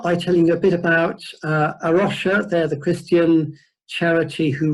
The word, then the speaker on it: A Rocha: they're operating the name a Russia I'm told it should actually be pronounce our house because it's Portuguese meaning of Iraq and